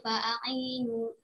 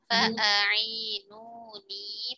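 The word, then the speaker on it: فَأَعِينُونِي: Qala ma makkanni fihi rabbi khairu fa'ainu bi quwwatin. Fa'ainuni. Perhatikan panjang pendeknya.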